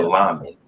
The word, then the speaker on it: lamed: Lamed?